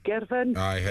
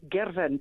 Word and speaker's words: Girvan: I think her name might be Heather from Girvan. Do you know her from down the marketplace? You always mispronounce it. Scotland. In Scotland, it's Girvan, not Girvan.